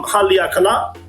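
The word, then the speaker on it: Haleakalā: This is actually called Haleakala Beach, and I think I pronounced it right. I've been to Hawaii, and there's a place called Haleakala Mountain. So I kind of have an idea of how to pronounce it, but it's been a while since I've been to Hawaii. So yeah, let's go to Haleakala. Yeah, if I remember correctly, it's Haleakala. That's how it's pronounced.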